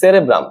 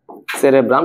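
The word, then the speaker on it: cerebrum: গুরু মস্তিষ্ককে বলে দিছে সেরেব্রাম। আসলে না, কথাটা কিন্তু ঠিক না। ঠিক কথাটা কি, আমাদের এই অগ্র মস্তিষ্ক বা গুরু মস্তিষ্ক, এটা তিনটা ভাগ থাকে। প্রথম ভাগটার নাম হচ্ছে সেরেব্রাম, সঠিক উচ্চারণ যদিও, সেরিব্রাম।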